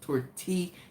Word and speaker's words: tortilla: to know that two L's in Spanish is pronounced like a Y. And I'm like, tortilla. He's like, okay, so you need to steam the tortilla. Didn't we just go over it? That is pronounced tortilla. Tortilla.